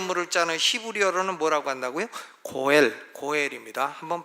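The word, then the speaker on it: גֹּאֵל: 고엘입니다. 한번 발음해 보시죠.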